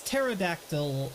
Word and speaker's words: pterodactyl: is it actually silent pterodactyl it's pterodactyl and the the the p is silent angles are so weird